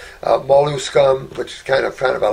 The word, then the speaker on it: Molluscum: It's Molluscum. It's like scum on the end. Molluscum, which is kind of a laughable word because it talks about a mild viral infection on the skin.